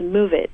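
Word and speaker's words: Moovit: iPhone to um there's an app called move it and uh it is spelled m o o vit and it is a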